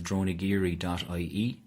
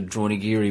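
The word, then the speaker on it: Dronagiri: So for the cabins and for accommodation, the website is droneyiri.ie. We're also on Instagram or Facebook. Spell that is it phonetically?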